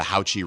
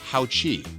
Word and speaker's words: HAOQI: It's HAOQI, HAOQI, because the Q and the I is more of a chi, not a ki. It's a chi.